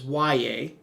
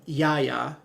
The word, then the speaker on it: Y.A.: So that is how you pronounce his name, is Y.A. I know it looks like Yaya, but almost like Yaya Diaby, I think that's his name for Tampa. But this is Y.A.